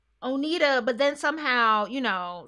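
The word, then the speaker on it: Oneida: at oh oh neither o n e i d o onita yeah i believe this is oda that's how you say it onita but then somehow you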